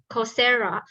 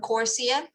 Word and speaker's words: Coursera: And I also signed up on Coursera. No, so not SEA, SERA. So you're right. I don't know how to pronounce this. Coursera.